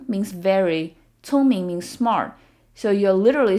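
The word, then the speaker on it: 聪明: Smart is 聪明, 聪明. So the C sound in Chinese is never pronounced like K. It's always a ts sound, as in the Z in pizza. So it's 聪明, 聪明.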